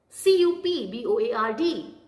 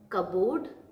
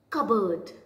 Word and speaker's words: cupboard: the next word is c-u-p-b-o-a-r-d it's covered people call it as cabood but the p is silent here so the correct way to say this word is cupboard what is it cupboard